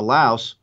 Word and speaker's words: Laos: The one thing that I would do is I would go back to Laos or Lao, depending upon how you pronounce it.